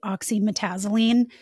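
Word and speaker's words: oxymetazoline: I mispronounced Afrin's a active ingredient. It's actually oxyetazzylene.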